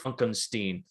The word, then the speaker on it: Frankenstein: like oh you know it's pronounced funkenstein and then it's like